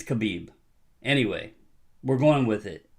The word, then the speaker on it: Khabib: I can't pronounce his name, but I think it's Khabib.